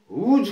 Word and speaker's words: whose: होम WHOM होम उच्चारण आ गया है, और WHOSE हुज का उच्चारण आ रहा है।